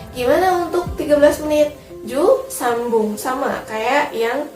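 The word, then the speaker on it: 三分: Harusnya sanfung kan, tapi karena pengecualian dia jadi sambung. Ditulisnya sanbun tapi dibacanya sambung.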